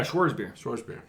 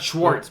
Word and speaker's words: Schwarzbier: Yeah, Schwarzbier. Got it. Not Schwartz, because I don't Not think Schwartz. There's no T. There's no T, just a Z.